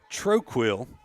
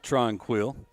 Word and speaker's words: Tronquil: I'm getting reports from Central Louisiana that it is Troquil, not Tronquil. Abby Troquil for Tioga. Even though it's spelled Tronquil on the card, as Emma Wilkinson for once, our PA announcer here has got it right, even though it was phonetically wrong.